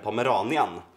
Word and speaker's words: Pomeranian: säger det igen, och den Pomeranian uttalas så, va?